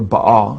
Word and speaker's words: Baal: it b a l how the Bible spells Bale or Baal as it's pronounced in Hebrew uh which is the